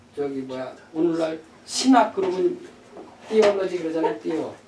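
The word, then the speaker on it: theology: 뭐야 오늘날 신학 그러면 띠올러지 그러잖아요. 띠오. 그 띠오가 데우스 여기서 나온 거예요. 그 발음 못하는 사람 우리가 신학교 다닐 때 발음 못하는 사람 자꾸 띠올러지를 데올러지 그런 사람 있어.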